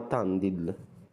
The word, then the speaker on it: Tandil: non si capisce nulla Qui siamo a Tandil penso che così si pronuncia Ragazzi ma comunque guardiamo